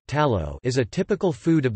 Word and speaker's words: Talo: tallow or to Lao Basque pronunciation tallow is a typical food